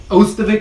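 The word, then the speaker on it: Ostovich: Ostovic, I believe it is pronounced.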